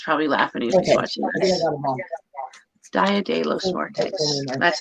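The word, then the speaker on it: día de los muertos: as the day of the dead oh i butchered spanish my husband's probably laughing he's watching this dia de los muertos that's how you say it so i got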